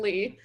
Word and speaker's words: Lea: my name leah or i pronounce my name lee um and even though it looks like leah i don't want to say you know you actually should pronounce my name lee instead of leah so that's been i